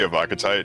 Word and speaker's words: Evocatite: Evocatite. Yeah, let's go with the Evocatite because it sounds like we're saying tit.